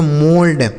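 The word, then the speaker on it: mould: एम ओ यू एल डी इसे पढ़ेंगे दोस्तों मोल्ड।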